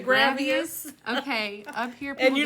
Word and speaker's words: Gravois: here's another fun one g-r-a-v-o-i-s gravius I've heard people say gravius Okay up here and